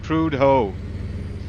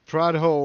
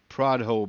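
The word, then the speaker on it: Prudhoe: name to me because I'm pronouncing it wrong I'm saying prud ho prude ho Bay whatever it was it's PR ho or something like that but I'm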